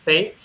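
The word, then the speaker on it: PHEIC: assez ironique parce que ça se prononce fake en anglais qui est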